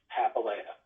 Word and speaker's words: Papalia: It's Papalia, and it's Papalia. Oh, that's nice. What does that mean in Italian? Actually, I have no idea. I do know that it's an Italian last name, but the pronunciation is Greek.